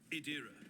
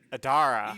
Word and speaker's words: Adira: If we'd been in real space, I'd have had I'd have Adira, stop castigating yourself. I always mispronounce her name. I'm like Adara.